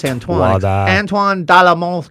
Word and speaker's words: Antoine: It's Antoine.